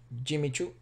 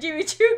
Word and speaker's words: Jimmy Choo: you pronounce that brand jimmy choo jimmy choo yeah really yes or is jimmy no no it's not an s it's a c jimmy cho had an obsession with